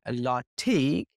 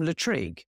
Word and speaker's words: Lartigue: You know, I once did a whole video talking about Jacques-Henri Lartigue by calling him Latrigue. which is a thing that I've had since photo school days that I've somehow mispronounced his name in my head.